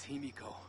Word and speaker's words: Himiko: It is Himiko. There you go. He pronounced it better.